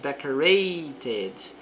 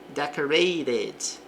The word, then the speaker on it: decorated: Então, dizemos decorated. Também posso pronunciar o T com som de R. Decorated.